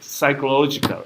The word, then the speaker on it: psychological: the pronunciation of second one second psychological excellent psychological you do not pronounce this psychological like in your mind something